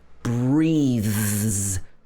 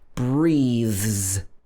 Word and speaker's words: breathes: But when the th is voiced, so your vocal cords are moving, like breathe, then the s is pronounced z. For example, this would be breathes, not breathes. It should be breathes, z, z, breathes.